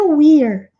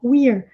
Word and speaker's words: we're: É só pronunciar esse E com som de I, não pronunciar o último E, e fazer esse som de R enrolado do inglês no final, we're.